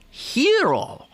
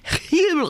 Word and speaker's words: gyro: is their wonderful sandwich they hero I think is how it's properly pronounced yeah but I asked